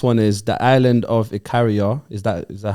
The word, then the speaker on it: Ikaria: The next one is the island of Ikaria. Is that how I pronounce it? Ikaria.